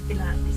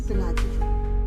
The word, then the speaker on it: Pilatus: kasi sa sa akala ni ano yan pilatis ikaw ba yun sabi akala ko pilat yung mag exercise exercise sabi [nililinis ang lalamunan] ko the pilatus pala pilatus saan pronunciation natin pilatus